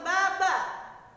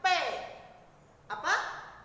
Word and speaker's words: ba: B tidak dibaca B dalam bahasa Mandarin. Jadi bahasa Mandarin tidak ada huruf B. Jika kamu melihat di buku ada tulisan BA, bacanya bukan baba. Seperti apa bunyinya? B dibaca P. Apa? B dibaca P. Jadi kalau misalnya ada tulisan BA, bacanya PA.